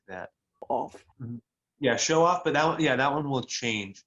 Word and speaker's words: show off: So noun, so the first one is show off, and then if it's a verb, then you put more emphasis on the second part, so show off.